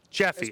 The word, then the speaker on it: Jeffy: check it out we're how do you say your tag or your name Jeffy okay I thought it was Jefe a lot of people when I went to moles uh people called me Jefe and you know I'm